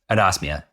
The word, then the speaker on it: anosmia: Anosmia.